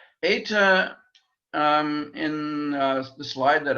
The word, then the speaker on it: eta: compare it with um eta is like feta fate is that an